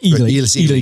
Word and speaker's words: Ely: That's Eli Callaway. Yeah. Ely Callaway. Right. And everybody says Eli, but it's Ely Callaway.